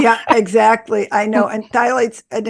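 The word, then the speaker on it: phthalates: another you know yeah exactly I know and thights and it's spelled everybody p h t h a l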